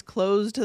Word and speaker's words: closed to: We say, but it's closed to the public. It blends right in with the T sound in the two.